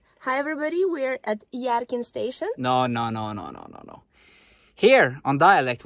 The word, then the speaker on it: Hjerkinn: Hi everybody, we're at Hjerkinn Station. No. Here, on dialect, we say, Velkommen til Hjerkinn! Hjerkinn! Hjerkinn!